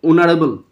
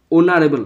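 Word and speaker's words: honorable: হ এর মত না হলে এন বসে এর উচ্চারণ কিন্তু অনারেবল অনারেবল তাহলে হয় এর মত হয়নি তাই এন বসলো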